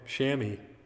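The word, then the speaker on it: chamois: Shammy. That's the weird word. I guess it's I never would have guessed that that's how that pron that's pronounced.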